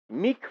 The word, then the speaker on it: Mic: side by the sasul meek River uh and and that's Meek not Mick like uh uh I